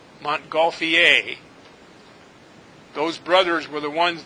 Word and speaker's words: Montgolfier: balloon and the Montgolfier it's a French name and it's pronounced Montgolfier not fear or fire Montgolfier those brothers were the